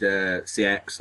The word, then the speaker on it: CX: Well, I messaged CX or Sex or whatever it's called. I think it's actually pronounced Sex, but I messaged them.